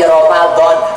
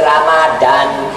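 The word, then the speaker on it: رمضان: opo iku bulan suci Romadlon jangan baca bulan suci Ramadhan enggak ada aksara burungnya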